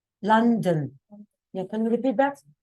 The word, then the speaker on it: London: A lot of people say London with an O. Oh, it's not O, it's A. London.